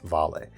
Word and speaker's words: Vale: This is the Vale, spelled Vale, pronounced Vale.